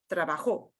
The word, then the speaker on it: trabajó: vivo, entiendo, estudio, and o with an accent mark, which means you got to punch that syllable more than everything else. So not the word trabajo, but trabajó.